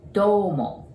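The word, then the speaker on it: どうも: There's OU there, just like arigato, OU. So we pronounce it domo, okay?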